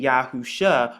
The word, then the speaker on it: Yahusha: you find right here, it's pronounced like sh or sh, and the ayin is actually silent in the Hebrew, but it makes the sound, which is right there. So when you put it all together, you get Yahusha or